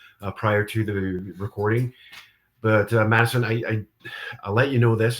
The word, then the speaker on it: Madisyn: Madisyn, and I'm saying that right?